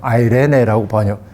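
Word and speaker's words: εἰρήνη: 헬라어에서는 이 평화라고 하는 말은 샬롬이 아니라 에이레네라고 흔히 얘기합니다만 아이레네라고 발음할 수도 있습니다.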